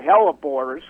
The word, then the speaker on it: hellebore: what's the um how do you say it hellebore how do you say that teleport yeah calibori okay the botanical name is hello boris but we all call them hellebores and uh these are what we call lenten